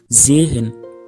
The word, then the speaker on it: sehen: Et puis voici un cas aussi très important, le S suivi de voyelles se prononce toujours Z. C'est très important, comme dans sehen, voir, Sonne, soleil, super, super.